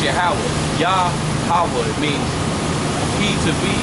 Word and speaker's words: Yahweh: His name is Yahweh, but they falsely pronounce it Jehovah. But it's really pronounced Yahweh.